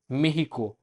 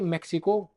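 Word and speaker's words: México: तो अगर ये वर्ड खुद मैक्सिको, अगर हमको मैक्सिको के अंदर बोलना होगा तो हम इसको बोलेंगे मेहिको, मेहिको। बट बाकी कंट्रीज में मैक्सिको करेक्ट है।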